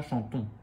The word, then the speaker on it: chantons: Mais attention, on ne dit pas le N avec un son, le son ne. Okay, le N sert à faire le son on avec le O. Mais je considère qu'il se prononce dans le sens où s'il n'y avait pas de N, on dirait chanteau. Ici, on a chanton.